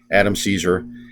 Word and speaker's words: Adam Cesare: anybody's name wrong uh unless it's adam cesare because i know he always says adam caesar but um i just